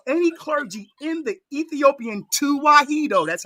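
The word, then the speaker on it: Tewahedo: Show me one uh clergy or any clergy in the Ethiopian tuahedo.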